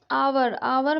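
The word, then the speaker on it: hour: आवर में H silent है।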